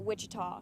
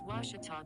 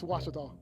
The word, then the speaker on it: Ouachita: university back in texas everybody pronounces it wichita but really it's ouachita washington washington how would you pronounce it it's washita baptist university get it right it's washi tall people it's washata northwestern has struggled